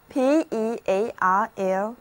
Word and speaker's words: pearl: a diamond ring, a diamond ring, 而珍珠却叫做 pearl, P-E-A-R-L, pearl, 字母组合 E-A-R 的读音是长的 a。那它的戒指上有一颗珍珠，就是 her ring had pearls on it,